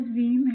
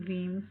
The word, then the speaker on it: Veeam: The company headquarters is Columbus, Ohio, United States, and the name Veeam came from the phonetic pronunciation of the letter VM, virtual machine.